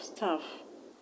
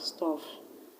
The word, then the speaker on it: staff: How do you pronounce the U in staff? You pronounce it as A. A. Remember what I told you? Whenever you have U that ordinarily we pronounce as O, the sound is usually A.